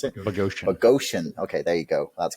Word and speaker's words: Boghossian: Conversations, Peter Boghossian, I think is how you pronounce it. Boghossian.